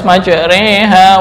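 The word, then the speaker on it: مجراها: Kenapa yang dibaca imalah kok enggak semuanya? Dari segi wazan kan sama tuh, majroha mursaha, harusnya bisa dong majreha wa murseha. Kenapa kok cara membacanya harus majreha wa mursaha?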